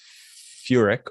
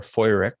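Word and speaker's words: Feurich: Furick or Feurig, depending on how you'd like to pronounce it.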